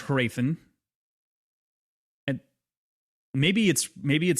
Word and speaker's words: Hrathen: I overpronounce the H. I think it's like a subtle H, like a Hrathen. Like it's very subtle, but it's there. It's not completely silent. I want to say the audiobook like even overpronounces the inner vowels, and it's like Raytheon almost. I think it's Hrathen.